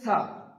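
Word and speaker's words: ث: উপরের দাঁত জীবের আগার উপরে চাপ লেগে তা উচ্চারণ হচ্ছে তারপরে আছে ছা।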